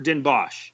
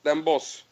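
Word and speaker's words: Den Bosch: hey we're coming to is it pronounced Den bch or Den BOS Den BOS so how exciting is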